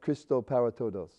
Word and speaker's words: Cristo Para Todos: why do you like being part of of cristo para todos and i pronounced that okay didn't i yeah that's correct